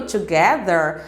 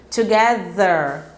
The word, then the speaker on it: together: e Together é juntos Observe que no Together a gente tem o th ali no meio de uma palavra e olha a pronúncia Together Together o th ali no meio ele possui mesmo tá tentem pronunciar aí vamos lá together agora tentem pronunciar a